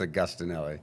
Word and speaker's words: Augustinelli: I'm like, pretty close, but it's Augustinelli. That's awesome.